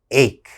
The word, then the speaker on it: ache: has ch in it so a lot of my students say h okay that's wrong that ch has to have a strong k sound ache ache what is an